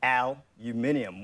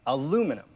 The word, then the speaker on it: aluminium: Australians stress the aluminium, 1 and 3, whereas the Americans stress the second, aluminum.